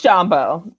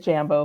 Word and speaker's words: Jambo: It's Jambo. And I also said Jambo for a long time until we were like, please, it's another language. Try to say it right.